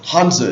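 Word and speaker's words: Hanzi: symbol I guess we should say hanza hanza is the proper name one hanza represents a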